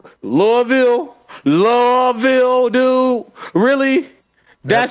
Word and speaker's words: Louisville: love louisville like you you got to say it like it's like it's one syllable louisville does muhammad ali